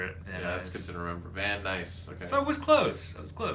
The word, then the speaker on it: Van Nuys: Oh, that's it's like Vinoy's.